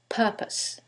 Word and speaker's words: purpose: However, in the first one, it's the second syllable that's stressed, and in the second one, it's the first syllable, and that changes the pronunciation completely. The first word is propose, and the second word is purpose.